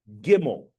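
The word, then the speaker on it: גימל: We're going to do the next letter is called Gimel. Gimel is the next letter in the Hebrew alphabet. You'll see here that Gimel, they're trying to associate with glamorous Gimel.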